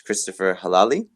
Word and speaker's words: Christopher Helali: You did pronounce it correct, comrade. My name is Christopher Helali, and I am running as a PCUSA candidate for the at-large congressional district for Vermont.